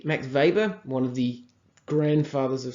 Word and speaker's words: Weber: Weber called his German I think they pronounce the W like a V Max Weber one of the grandfather's